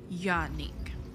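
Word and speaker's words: Jarnik: So all the J's pronounced as Y's. Yarnik.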